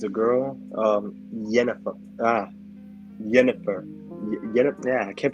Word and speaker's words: Yennefer: if it's a girl, Yennefer. Yennefer. Yennefer. Yeah, I can't pronounce it. Jennifer. It's like Jennifer, but with a Y. Yennefer. No, Yennefer?